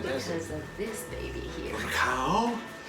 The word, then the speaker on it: recao: Ricao? Is that how you say it? Ricao? Recao. Ricao.